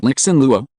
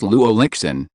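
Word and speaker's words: Lu Lixin: It's not Lixen Luo, it's Lu Lixen. Carl, remember when you meet a Chinese person, you should say his last name first.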